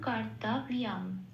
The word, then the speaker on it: কর্তব্যম: শব্দের শেষে অনুস্বর থাকলে সেটা ময় হসন্ত দিয়ে প্রতিস্থাপিত হয়ে যায়। তাহলে শব্দটা কি পেলাম? সংস্কৃতের উচ্চারণ কর্তব্যম, এটা।